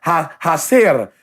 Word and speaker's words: hacer: There are words that I hear now that I'm like, hacer. Okay, I got it. H is silent, but that's a, you know, say, you know, I know the alphabet now.